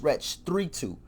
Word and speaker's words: Wretch 32: erect his name wrong its wretch three two not 32 listen if I ever